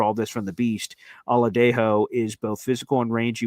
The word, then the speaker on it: Oladejo: Oladejo is how you pronounce it.